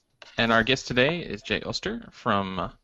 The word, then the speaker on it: Jay Oster: our guest today is Jo stir from did I pronounce that right austere my apologies J Koster from PubNub hello yes as he said my name is Jay Auster and I'm a form